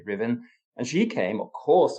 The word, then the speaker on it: Ruthven: His mother, Margaret, before she was married, was called Margaret Riven. So that's one of those funny pronunciations. She spelt Ruthven, Ruthven, but you say Riven.